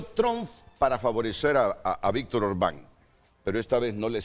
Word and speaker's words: Orbán: década de gobierno de Víctor Orbán. Me disculpan la pronunciación primera, es Orbán. Lleva acento en la no tiene un rostro